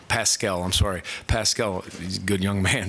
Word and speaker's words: Paschal: You got to be physical and block out with your lower body against it's Pasquale. I want to make sure I'm saying it right. Pascal, he's a good young man too.